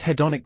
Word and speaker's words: hedonic: Can you say the hedonic again for clarity? Certainly. It's pronounced hedonic. Thank you. Hedonic. Got it. Excellent emphasis on the second syllable.